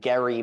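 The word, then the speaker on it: Gerry: Jerry it's Gary and it should actually be Gary mandering but you know there wasn't an audio clip circulating around the internet at the time of him saying here's how my name is pronounced so uh so vice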